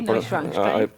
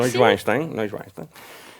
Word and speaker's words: Neuschwanstein: il castello, tu dovrai saperlo, di Neuschwanstein, Sì, Neuschwanstein. pronunciato giusto, Sì. Neuschwanstein, dove la guida diceva, ecco, questo è il